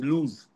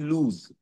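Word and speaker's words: loose: Tooth, আপার front tooth, একটা আপার front tooth ওয়াজ লুজ, LOOC। এর আগের দিন আমি একটা ডিফারেন্স বলেছিলাম দুটো শব্দের মধ্যে, LOOC লুজ, আর একটা বলেছিলাম LOSE লুজ। সেম প্রোনাউন্সিয়েশন, একই উচ্চারণ, কিন্তু বানান আলাদা, দেখো, এবং তার মিনিংও আলাদা।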